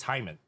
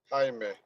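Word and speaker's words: Jaime García: Yes, it's Hyman. I'm pretty sure it's Hyman. Not some people could pronounce it Jaiman. It's That sounds like some part of the body. Jaime. Jaime Garcia.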